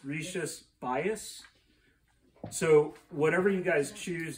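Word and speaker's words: Rías Baixas: before i went there i always pronounced this as the region as rishi spicious i swear on the bus trip it's rishi's bias so whatever you guys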